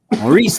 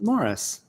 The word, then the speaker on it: Maurice: And I've been announcing his name every week as Maurice, but I think he pronounces it Morris.